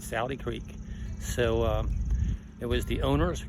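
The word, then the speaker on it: Sauty Creek: a little differently, but it's called S-A-U-T-Y, but he said in Alabama they would pronounce that Saude Creek.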